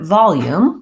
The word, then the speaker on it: volume: a reduced vowel so in the word volume we have first syllable stress and the syllable vowel is long the syllable yoom is shorter you can see that